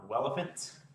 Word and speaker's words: Welephant: we are working on relevant it's spelled like elephant with a W open source this is